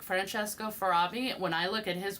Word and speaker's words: Farabi: But like Francesco Farabi, when I look at his work, I know it's his.